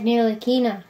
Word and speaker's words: Ntilikina: I don't know how to pronounce this guy, but it's Frank rookie card. He's really good. Frank Ntilikina.